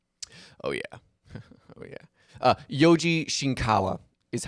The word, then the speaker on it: Yoji Shinkawa: and doomsday yeah oh yeah oh yeah uh Yoji shinkawa is how you pronounce that man's name oh I gotcha we